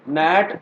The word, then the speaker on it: NAT: इसका कुछ ना कुछ फायदा होता है, इसीलिए मैं ये चीज बोल रहा हूँ कि इसको प्रॉपरली नैट प्रोनाउंस करना rather than pronouncing it एज अ नेट, ठीक है।